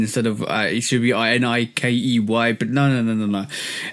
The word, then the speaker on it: Nike: But when you look up the Greek goddess of victory, it's pronounced like the brand is pronounced.